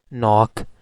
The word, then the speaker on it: knock: Similarly knock, k is silent but n, ok, so 3.